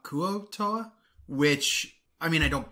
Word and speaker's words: Kuo-toa: __ ] hate him he also pronounces them koatoa and not kuotoa which i mean i